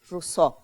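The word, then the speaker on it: Rousseau: un puse una p es ruso r r no vayan a escribir se escribe r y se pronuncia rous Adam Smith maltus que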